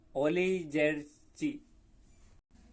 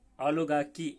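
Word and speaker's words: oligarchy: ओलिजेर्ची, जिसका सही pronunciation ओलिगार्की ऐसा पड़ेगा. ये ओलिगार्की, ये CHY की हो जाएगा, और ये गा ओली, तो ओली नहीं पढ़ना है, ओलिगार्की.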